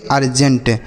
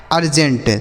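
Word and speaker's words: urgent: उसी तरीके से यू आर जी इ एन टी। इसे हम पढ़ेंगे अर्जेंट। क्या पढ़ेंगे मेरे भाई? इसे पढ़ा जाएगा अर्जेंट। तो यहां पर यू का उच्चारण क्या हो रहा है? आ के रूप में हो रहा है।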